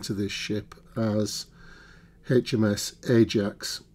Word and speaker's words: Ajax: Now, throughout this build, I'll be referring to this ship as HMS Ajax rather than what is probably the correct pronunciation, which is Ajax.